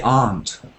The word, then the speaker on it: aunt: I said before there is um an American homophone with the insect ant it's not quite a homophone but near so my ant was bidden by an ant but I say aunt and my aunt goes with are not Contracting aren't aren't we